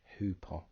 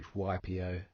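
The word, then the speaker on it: ὑπό: It often gets transliterated as HYPO, but hupo is the correct pronunciation, meaning by or under.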